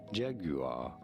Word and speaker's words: Jaguar: In British English, it is normally pronounced as Jaguar.